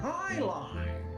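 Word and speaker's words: jai alai: team to play against the bellows bloodhounds it's pronounced highline if you don't even know what it is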